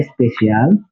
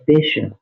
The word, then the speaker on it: special: Donc ñu bàyyi xel ci prononciation bi aussi du pas spécial mais special.